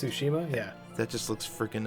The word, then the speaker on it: Tsushima: I definitely want to play is ghost of susima I think is pronounced Tsushima yeah that just looks freaking amazing so yeah